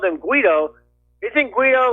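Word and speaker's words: Guaidó: Well, actually, unfortunately, the G is pronounced as an H. It's Guido.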